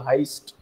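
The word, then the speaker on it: Heyst: hero is named as Axel Heist you know rhyming with Christ I told you you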